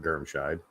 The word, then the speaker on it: Germscheid: This is my cousin, Germscheid. Yes, that's how you pronounce that, Germscheid, despite how it's spelled.